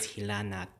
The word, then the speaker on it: hilanat: So the first example we have here is hilanat. Hilanat is 3 syllables.